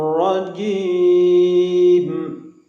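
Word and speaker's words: الرجيم: A'udzu billahi minasy syaithanir rajim. Ra tasdidnya diucapkan dengan getaran yang halus.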